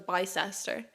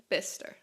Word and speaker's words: Bicester: going I was like I have to go to Bicester and they were like no that's bister um but I knew that but I had learned how to say it so when I told the bus driver where I was going I said bister which was a bit